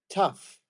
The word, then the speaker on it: tough: I got it but there is tough like rough tough rough mhm and